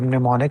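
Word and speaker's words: mnemonic: language you to learn the word pneumonic I think we need another picture m is silent this m is silent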